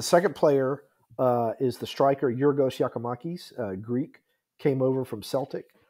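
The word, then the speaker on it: Giorgos Giakoumakis: How do you pronounce it? Yorgos Yakimakis. Yorgos Yakimakis.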